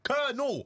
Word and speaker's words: Colonel: Col. Colonel. C E R N A L.